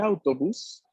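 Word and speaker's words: autobus: porque ahora tenemos un autobús aquí atención no hay que confundirlo con una pronunciación del español autobús e invitaría más autores del acento técnico de la palabra está en la primera sílaba el autobús efe el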